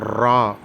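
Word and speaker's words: ر: அதற்கு அடுத்து உள்ள எழுத்து ரா நாக்கு சற்று உதரல் கொண்டு ரா என்று கூற வேண்டும்.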